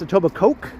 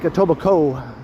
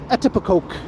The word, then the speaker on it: Etobicoke: Well, it's not pronounced Etobicoke, so probably not. It's more like Etobicoke. But I have heard some people pronounce it as Etobicoke.